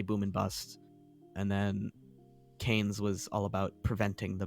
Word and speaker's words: Keynes: It's Keynes.